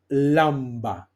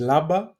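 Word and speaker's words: λάμπα: Okay, or lamba. Okay, lamba. Um, you can pronounce it as laba or lamba.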